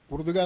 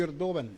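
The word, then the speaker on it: Erdoğan: ഈ റസീബ് തയ്യിബ് ഉർദുഗാൻ ഉർദുഗാൻ എന്നാണ് മലയാളത്തിൽ പലരും എഴുതുന്നത് അദ്ദേഹത്തിൻറെ പേര് ഇംഗ്ലീഷിൽ എർഡോഗൻ എന്ന് എഴുതും യഥാർത്ഥ ഉച്ചാരണം എന്നാണ് ഈ എർദോവൻ 21 കൊല്ലമായിട്ട് തുർക്കിയിൽ ഭരണം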